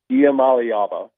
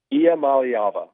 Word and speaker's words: Iamaleava: Iamaleava. Say it again? Iamaleava.